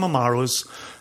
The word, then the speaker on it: Amaro: with Amaro Chio Cho so it's Amaro a m a r o separately Chio c i o separate c i a r o amaroo and if you can start to say it like that you already sound like you know what you're doing the black Manhattan is